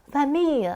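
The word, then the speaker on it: famille: 보크는 6이고 패밀리랑 비슷하죠 fam 이렇게 발음하는게 맞아요 저기 고속버스 터미널 그때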